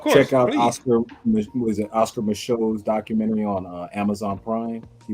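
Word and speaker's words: Micheaux: Oscar Michaud, kind of spelled like DeVoe. You know that Louisiana bow.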